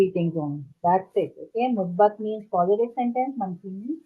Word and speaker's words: Muzbat: and Musfat. Very good. Okay. Wait, Musbat or Musfat? How do you say that? Musbat. M-U-Z. Musbat? Z. Okay. Z. Okay. Okay, Musbat. Uh-huh.